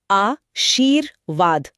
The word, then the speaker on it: आशीर्वाद: इसका नियम है कि ये जिस अक्षर पे लगा होता है, इसका उच्चारण हमेशा उससे ठीक पहले होता है। अच्छा। तो शब्द को धीरे-धीरे बोल कर देखिए। आ शीर वाद। आ शीर वाद हां र की आवाज व से ठीक पहले आ रही है।